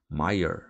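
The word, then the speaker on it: Meyer: o que eu digo o senhor Maia Mayer corrigir o alemão apoiando com força na última sílaba maior Tá bom a gente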